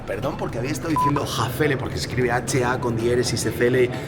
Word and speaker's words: Häfele: capaz de resolverlo esele hafele como esa a lleva una diéresis llevaría la pronunciación que nosotros en español sería una a y una e entonces tendríamos que encontrar eh el sonido entre medias entonces encontraríamos ahí un